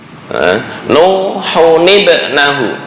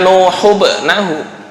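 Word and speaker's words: نوح ابنه: Nuhun ibnahu, bukan nuhubnahu. Mungkin kalau di Quran Indonesia cetakan Departemen Agama ada nun kecil, tapi tujuannya adalah untuk mempermudah. Cara bacanya sama, hanya beda penulisan. Cuma yang asalnya ini nuhun, tanwin ketika bertemu dengan hamzah wasal maka dikembalikan ke asal.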